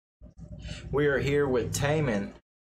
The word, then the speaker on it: Taemin: we are here with Taman is how you say his name Taman Criminal why is he